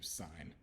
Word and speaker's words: sign: being there does change the G itself is silent but it changes the I so instead of Si n being sin SI i g n turns into sign it's a there's not